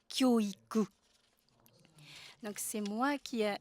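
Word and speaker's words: 教育: Ce nouveau concept, se former ensemble, s'écrit avec deux sinogrammes qui se prononcent kyoiku, exactement comme les deux autres sinogrammes qui signifient l'éducation, kyoiku.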